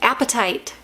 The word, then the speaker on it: apatite: Apatite. But it's spelled A-P-A-T-I-T-E, right? Like a gemstone, more than like I'm hungry appetite.